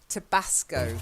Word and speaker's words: Tabasco: Like tobacco, but with a sco at the end.